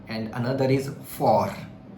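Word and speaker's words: fort: If you look at this word faux, which means wrong, and another is for. T is silent, which means strong.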